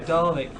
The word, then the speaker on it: Dalek: For people complaining about how I'm saying Dalek, you need to watch Doctor Who, and that's how they say Dalek, alright? I'm saying it correctly.